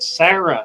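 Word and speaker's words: Sera: germany called sarah s-e-r-a i think they pronounce it sarah actually s-e-r-a that's how i think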